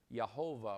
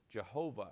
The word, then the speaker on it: Jehovah: tetragrammaton and we get jehovah or jehovah as we call it because we pronounce the j in english so that's where we